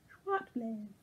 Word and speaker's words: Zwartbles: This is John Arbon merino it's written Zwartbles, but the Dutch pronunciation I was told by a friend at Spinning Guild last week is Schwartblaze, which I think means white blaze.